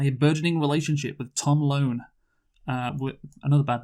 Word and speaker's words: Lone: Her adventures are complicated by a burgeoning relationship with Tom Lone. With another bad name, honestly. I was going to say, but you got to bear in mind, though, it rhymes with phone and bone.